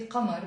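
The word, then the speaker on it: قمر: So notice here there is a qaf which I don't pronounce. In the Lebanese accent, we tend to pronounce it Amar. Of course, there are some people who pronounce the qaf very rarely, and in the Shuf area, for example, or the Druze of Lebanon pronounce the qaf. They might say Qamar, but generally in Lebanon we say Amar.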